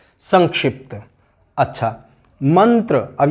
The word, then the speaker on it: मंत्र: त का पंचम वर्ण, त वर्ग का पंचम वर्ण वही इसका, अर्थात न, ये इसका उच्चारण मंत्र, इसलिए हम मंत्र बोलते हैं, मंत्र नहीं बोलते, मंत्र नहीं है, मंत्र है।